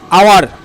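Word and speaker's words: hour: হয় অনেস্টের মতোই, ঠিক আছে, এইচ থাকলেও অ উচ্চারণ হচ্ছে অনেস্ট। তো অনেস্ট, আওয়ার, অনার, এই তিনটে শব্দের আগে কিন্তু সবসময় অ্যান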